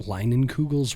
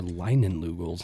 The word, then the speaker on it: Leinenkugel: I always thought Leinenkugels were Leinenlugels. Not until now. I learned that, but it looks like Leinenlugel, doesn't it? It kind of, I mean, I never knew how to pronounce it at first. I just called it Linkegels.